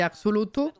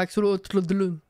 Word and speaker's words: Axolotl: Puis en plus, je suis matrixée par Pokémon, c'est Axolotl. Donc, c'est pas Axolotl.